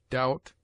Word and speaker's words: doubt: It is mute in debt, debtor, subtle, doubt, lamb, limb, dumb, thumb, climb, comb, womb.